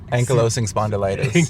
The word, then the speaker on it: ankylosing spondylitis: Ank spond is ankylosing No, how do you say Ank ankylosing spondylitis, yeah.